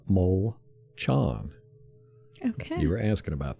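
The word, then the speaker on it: Molchon: our backup offensive linemen his name is pronounced mole chan okay you were asking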